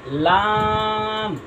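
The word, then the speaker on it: لام: তারপরে আমরা আসি লাম, লাম, লাম হচ্ছে নয় আট নম্বর মাখরাজ, আট নম্বর মাখরাজ জিব্বার আগার কিনারা সামনের উপরে দাঁতের মারির সঙ্গে লাগাইয়া উচ্চারণ হবে লাম।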